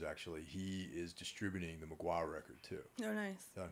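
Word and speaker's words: Mgła: Magua, the same thing. Because mm-hmm. you can only that's get... That's how it's pronounced?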